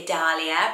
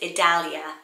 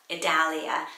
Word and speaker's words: Idalia: I want to say Idalia, but it's Idalia, Idalia. So the Dal rhymes with Hal, Idalia.